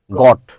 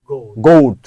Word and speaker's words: goat: GOT গট, NOT নট। কিন্তু যখন দুইটা ভাওয়েল থাকে GOAT গোট। এবং এই উচ্চারণ কিন্তু আমরা অনেকেই ভুল করি, গট পড়ি আমরা। গট মানে ছাগল, নো, গোট।